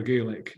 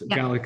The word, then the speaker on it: Gaelic: It's just like when you talk about Gaelic or Gaelic, it's Gaelic in Scotland and Gaelic in Ireland.